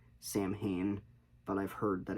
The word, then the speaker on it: Samhain: It's spelled like Samhain, but I've heard that it's supposed to be